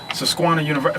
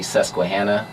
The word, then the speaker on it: Susquehanna: of how you made the transition from studying sasquatch universe first of all man is that the correct pronunciation it's uh it's actually susquehanna sesquihanna yeah okay but i mean it was